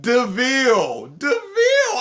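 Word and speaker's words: De Vil: stuff like hey hey it's pronounced deville like a devil winner and her just when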